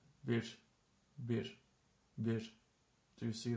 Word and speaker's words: bir: The thing with this is when it's in the syllable, at the end of a syllable, there's a soft sh sound coming after it. For example, in this word, which means one, or a, normally it's bir, but when we speak, usually we continue exhaling a bit more, and